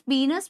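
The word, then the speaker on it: penis: तो यूरेथ्रा पास होती है मेल के एक्सटर्नल जेनिटेलिया यानी कि पीनस। बहुत सारे लोग पेनिस बोलते हैं बट करेक्ट प्रोनाउंसिएशन पीनस है, पीनस से पास होती है।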